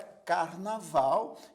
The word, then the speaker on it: carnaval: última sílaba por exemplo a palavra carnaval é uma palavra oxítona porque ela tem três sílabas e a última sílaba é a mais forte portanto é uma